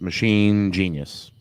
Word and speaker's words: Machinus: a certain way but is it not to be pronounced in the way of machinus that the way I intended it it was machine genius merge the words okay so I I